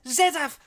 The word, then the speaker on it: Z-Daf: It's pronounced Z-Daf with a F at the end.